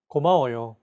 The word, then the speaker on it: 고마워요: Each syllable is pronounced for an equal amount of time. 고마워요.